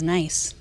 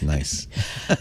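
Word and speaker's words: gneiss: that some schist is nice much of the schist is very nice is that how you pronounce that word s e i SS nice oh nice yeah it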